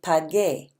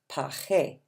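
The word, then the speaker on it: pagué: will be pod gay we have to slip that little you in there to keep the G sound good otherwise it would look like it should be pronounced paje which is not at all what we're saying PAH gay bi got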